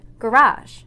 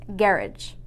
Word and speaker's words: garage: Even though both countries use English, some of the word stress varies, making those words sound completely different. For example, this word is pronounced garage in America, but in England, it's pronounced garage.